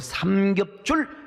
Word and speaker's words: 삼겹줄: 어떻게 차려야 어떻게 승리할 수 있을 것인가, 오늘 삼겹줄 전략에 대해서 말씀을 드리려고 합니다. 여러분 발음 잘 들으셔야 돼요. 삼겹줄이요, 삼겹살이 아닙니다. 여러분 삼겹살.